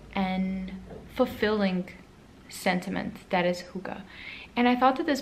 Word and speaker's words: hygge: So we have at the bottom the little book of hygge. I always say it wrong. Hygge. It's literally here on the cover, pronounced hygge, by Mig Viking, who is a Danish author.